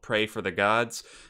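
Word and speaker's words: Praey for the Gods: now is a game called pray for the gods it's built in a weird way it's spelled p-r-a-e-y uh it just came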